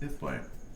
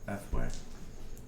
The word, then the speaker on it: Ethway: Sometimes pronounced Ithway. Sometimes pronounced Ethway. Depends. Depends on where you're at.